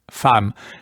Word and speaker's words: Femme: Yes, it looks like the E is a French A. Femme.